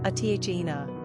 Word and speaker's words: Athena: ranking popularity 218 pronunciation Athena simple meaning sharp praise Lady of Athens wisdom